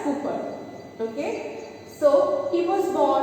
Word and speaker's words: Cowper: He is William Cowper, pronounced as Cooper.